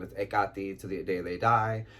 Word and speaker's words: Hekate: And then there's the Greek pronunciation of her name is Hekate.